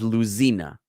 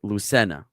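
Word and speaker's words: Lucena: one was Lucenna and now again he writes it as Lucina but in in Spanish it's Lucenna.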